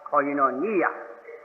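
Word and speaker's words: κοινωνία: 생각합니다이 교통이 하는 원어를 그 헬란 말인데 아주 발음도 좋고 여러분께서 할 수 있으면 기억할 수 있기를 바랍니다 코이노 니라고 하니라고 하는 말입니다 코이노니아 할렐루야를 우리가 히브리 말로 기억하는 것처럼 이것은 원래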